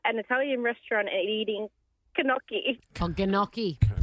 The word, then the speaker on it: gnocchi: Oh, gnocchi. Gnocchi. Gnocchi. She's reading it phonetically.